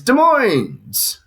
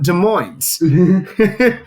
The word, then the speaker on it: Des Moines: Sorry, I said it wrong because here in Washington we call it Des Moines. How do you say it in Iowa? Des Moines. Oh. Yeah, no, it's definitely just Des Moines. Because you have to add the S.